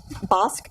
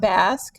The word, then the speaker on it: Bosque: It's pronounced Bosque, not Basque.